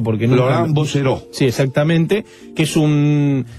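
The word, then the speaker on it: Laurent Bouzereau: de Laurent Bosseró, como se, no sé, se pronuncia porque no. Laurent Bosseró.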